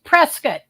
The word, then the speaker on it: Prescott: for 14 days right right oh and she's Prescot and I know it's called they pronounce it Prescot instead of Prescott see I